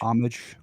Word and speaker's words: homage: have a little homage how do you say it it's French homage homage homage homage om